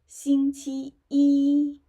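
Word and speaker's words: 星期一: Yeah, just pay attention to the tones. Xīngqī yī. First tone, first tone, first tone, yeah, which is the highest pitch for each character of this syllable.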